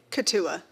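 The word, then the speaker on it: Keetoowah: Katua.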